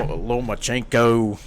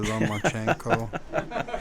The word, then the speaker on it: Lomachenko: You have to make sure you get that accent down right. Yeah, you can't just say it like no Lomachenko. You got to say Vasily Lomachenko.